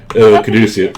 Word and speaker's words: Caduceus: Yeah, Probably won't be able to Oh, pronounce his- Caduceus. Caduceus.